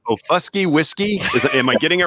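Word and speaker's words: Okfuskee: It's Ofusky Whiskey. Am I getting it right? That's right. So it's Oak Fusky Whiskey. So kind of like oak tree, like for Oklahoma. And it's an Indian name.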